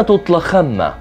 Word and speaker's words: طلخمة: كلمة طلخمة بكسر الحرف الأول وسكون الثاني وفتح الثالث، وهي تأتي بمعنى زاد واشتد.